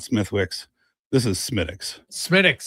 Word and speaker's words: Smithwick's: This is Smithwick's. Smithwick's. So the H is silence. You pronounce it Smithwick's or maybe even Schmidt's.